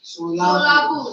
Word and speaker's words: Solapur: How do you pronounce? Solapur.